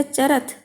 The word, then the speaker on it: चरथः: देखिए इसमें विसर्ग है तो चरथः है का उच्चारण आएगा, और यहाँ विसर्ग नहीं है तो चरथ, केवल चरथ, चरथः। अंतर समझ आ रहा है बच्चों, चरथः, चरथ। विसर्ग का और होने का और न होने का इतना अंतर उच्चारण में आ जाता है।